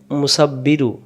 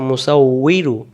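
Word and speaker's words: مُصَوِّرُ: অনেকে আবার বিন পড়ে, যেমন সূরাতুল হাসরে আমরা অনেকে বলি মুসাব্বিরু, এখানে আছে মুসাউইরু।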